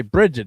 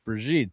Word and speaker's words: Bridget: Yeah, we have a good family friend and her name is You can't say Bridget. It's Breijit.